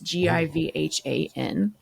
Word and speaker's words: Givhan: by Jennifer Givhan, I think is how I pronounced it. It's Givhan.